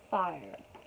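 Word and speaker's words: Phyre: this is this girl her name's fire pronounced like five spells p h y r e which i don't want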